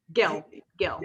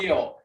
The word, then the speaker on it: Gill: So Mr. Gill, with a hard G. Oh, Jill, I'm sorry, Mr. Gill. Yeah. Mr. Gill, his complaint was that